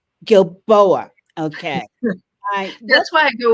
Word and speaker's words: Gilboa: your last name correctly gilboa gilboa okay that's why i go with it's remarkably hard to pronounce gil boa okay i'm gonna write